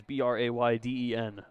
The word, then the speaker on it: Brayden: They are spelled differently, though. Lundberg is Braeden. Fouled back off himself, and it's 0-1. Orams is Brayden. Either way, still pronounced the same.